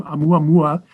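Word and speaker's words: ʻOumuamua: This object was given the Hawaiian name Oumuamua. I can pronounce it, but I probably couldn't spell it for you, but it starts with an apostrophe.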